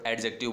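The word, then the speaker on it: adjective: में आ गया word एडजेक्टिव बोलते हैं हम। एडजेक्टिव बोलेंगे, डी का साउंड नहीं आएगा।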